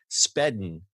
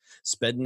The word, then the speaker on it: Spedn: Flexa has established a network and launched an iOS wallet app called Spedn, it's S-P-E-D-N, I swear I didn't mispronounce that, that allows you to spend cryptocurrencies at brick-and-mortar retailers.